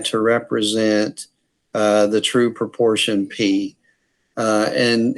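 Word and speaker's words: π: if we were Greek, if we were speaking Greek right now, when I pronounce this letter, it would sound like P. I wouldn't pronounce it pi in Greek. I would look at this letter and call it P.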